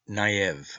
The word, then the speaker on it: Noeb: The word Nob is Irish and is spelled Noeb, but it is pronounced as if it were naive, with the O having a short sound as OE.